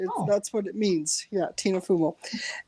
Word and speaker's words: Fumo: my grandma's norway yeah no it's so it's pronounced fumo so tina fumo it's uh italian it's um oh i like that yeah like um like uh fumey in french smoke that's what it means yeah tina fumo right yeah i'm glad you said it i